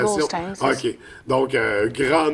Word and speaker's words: Goldstein: Oui, La prononciation. Goldstein, c'est ça.